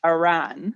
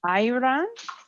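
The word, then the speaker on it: ayran: yogurt the yogurt drink Aran and that's a y r a n Iran maybe might be a better way to pronounce it because it's got the Y her energy and talent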